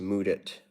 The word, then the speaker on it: Mudit: um yep yep indeed my name's pronounced mood it it's it's like the phrase move it but with the D sound mood it yeah all right where